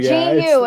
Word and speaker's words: GU: Am am I unaware of a product that's called goo? It's called goo. Gu. It's spelled gu.